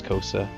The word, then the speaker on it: Costa: Costa uh coaster sorry it's spelled Constable pronounce coaster uh mostly it was